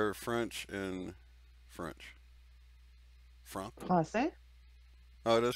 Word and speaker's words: Français: Français. Oh, it is Francais? Français.